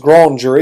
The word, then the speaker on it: grand jury: what you call a grand jury the grand jury uh technically it should be pronounced grown jury because it's a French word but you know hey